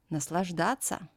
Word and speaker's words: Наслаждаться: In this word, the letter T has to become soft. But in verbs that end in soft sign ся, we don't soften it, and ся is pronounced as ца. Наслаждаться.